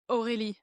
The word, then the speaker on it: Aurélie: I think in French we'll say Aurélie, but then in English it's definitely like Aurélie and. I don't know, whatever.